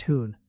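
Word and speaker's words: हूँ: Hon is a soft hoon. Not exactly English hoon, but close enough for now.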